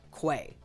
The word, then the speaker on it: QA: And I know it's spelled QA, but apparently the accepted pronunciation is Quay.